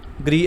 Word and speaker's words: Gris: पड़ेगी पहली है ये ग्री एरिक ठीक हो ग्रस लिखा हुआ है इसको ग्री प्रोनाउंस करते हैं और सेकंड बॉटल